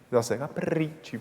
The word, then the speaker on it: capricci: “Che col tempo e coi perigli donna flemma capitò; e i capricci, cap-prrrricci”, so it sounds capricious. So try exaggerating the pronunciation.